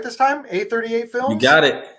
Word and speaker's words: A38 Films: A38 Films? You got it. A38 Films.